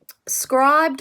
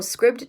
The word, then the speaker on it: Scribd: Scribed or Scribd, depending on how you pronounce it, is running a 30-day free kind of period.